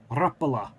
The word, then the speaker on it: Rapala: Rapala. That's how I was told it was pronounced, which is a fishing lure with the little hooks on the bottom.